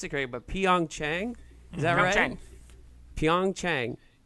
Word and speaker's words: Pyeongchang: Olympics in pion it took me forever to pronounce it great but Pyeongchang is everything Pyeongchang like yeah yeah it's been